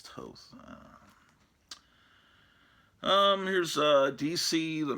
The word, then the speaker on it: Toth: I like the Alex toss Toth however you pronounce it is I always pronounce it talk Toth but I guess it's toast um here's uh DC